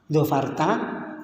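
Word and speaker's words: ظفرت: Dzofarta di sini bacanya pendek. Kalau pas dimaknai ya itu bacanya pendek. Aslinya pendek dzofarta.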